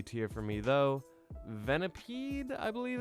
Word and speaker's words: Venipede: Venipede.